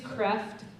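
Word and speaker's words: Kreeft: logic by um Peter his name's kreft but it's spelled creeped k-r e e f t Peter kreft k-r-e-e-f-t Socratic logic that's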